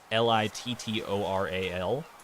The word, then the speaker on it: littoral: It's literal, but it's not literal. Like the literal that you know. It's Littoral. Littoral. But, I don't think it's pronounced that way.